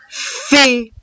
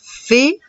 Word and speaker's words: fée: La fée. Et la lettre E à la fin est muette, je ne la prononce pas. La fée. La fée.